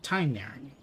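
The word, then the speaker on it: Tighnari: In English, the VA was directed to pronounce it Tainari, I guess, because the spelling is close to thigh, so it's that Thai sound.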